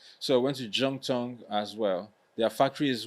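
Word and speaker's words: Zhongtong: Jung is Z H O N like a zong tongue, but it's pronounced as a J. Yeah. Just like Guanjo, right? So, I went to Jung Tong as well.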